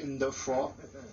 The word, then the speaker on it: Defo: Mais ben, lui il prononce comme les blancs. Moi je sais qu'on dit de faux.